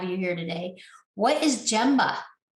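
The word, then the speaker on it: gemba: glad to have you here today what is gemma it's actually pronounced gamba okay yeah it's uh it's japanese for actually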